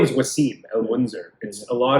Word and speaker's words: Wassim: like my name is Wasim and Windsor because a lot of type of panics your name is easier than fatality yeah I guess yeah yeah my teeth was it's two syllables right yeah it should be